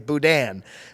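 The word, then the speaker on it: boudin: they'll tell you it's budan. But you don't use the N. You're supposed to like half pronounce the N.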